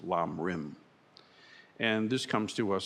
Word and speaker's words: Lam Rim: of the Path, or in Tibetan pronounced Lam Rim.